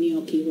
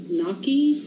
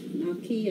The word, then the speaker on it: gnocchi: new people okay and i know i'm not pronouncing gnocchi right you're supposed to say naki naki i don't know i